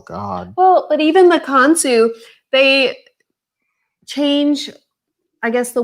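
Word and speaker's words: Consu: Lucas, is that how they pronounced it? Do you remember? Kansu, yeah.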